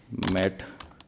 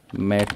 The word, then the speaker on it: matte: लिखा ये स्पेलिंग है मैट की। अब कुछ लोग इसको मैटे बोलते हैं, कुछ मैट बोलते हैं, तो वो आपकी मर्ज़ी, आपको क्या बोलना है। यूजुअली लोग इसे मैट पेंटिंग कहते हैं, तो ये मैं